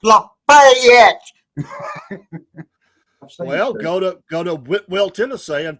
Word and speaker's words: Whitwell: Well, go to Whitwell, Tennessee, and pronounce it like that and see what they say. It's Whitwell. It's not Whitwell. It's Whitwell. There's a T in there.